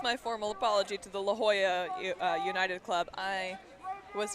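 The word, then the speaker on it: La Jolla: the consider this my formal apology to the La Hoya uh United Club I was today years old when uh I learned that it's pronounced La Hoya not laala um because I'm from Utah and I don't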